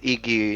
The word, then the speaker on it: Yggi: yes, it's Iggy. You pronounce it like it was with an I at the beginning, a Y at the Mm-hmm. end, and that was it.